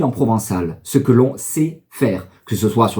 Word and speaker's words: sap: volonté pour dire il sait ou elle sa alors ça c'estécrit s a P mais le P ne se prononce pas on dit tout simplement